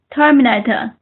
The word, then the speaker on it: terminate: 嗯，我听您读成 determined. Terminate.